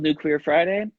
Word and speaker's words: New Queer Friday: The show's called New Queer Friday. And it's going to be tomorrow night. Sweet. And it rhymes with it sounds like Nuclear Friday, which I watched your live when you were talking about that.